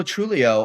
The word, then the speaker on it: Truglio: it began as LA truglio and then my my dear old grandfather said uh told me you know the g is silent and this happened around